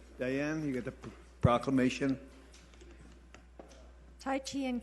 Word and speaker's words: Tai Chi: Hi, it's pronounced Tai Chi and Qigong, and this is a world event.